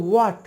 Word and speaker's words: what: হট না এটা হচ্ছে হোয়াট ডব্লিউ এইচ এ টি এখানে ডব্লিউ এ টি এতটুকুই উচ্চারণ হবে ভিতরে যে এইচ রয়েছে সেটা সাইলেন্ট থাকবে এই ফোনেটিক্স নিয়ে অনেক